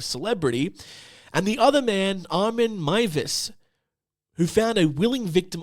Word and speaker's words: Armin Meiwes: I was mispronouncing his name the entire time incorrectly. Uh it is Armen Mus. That's his name. He's from Germany.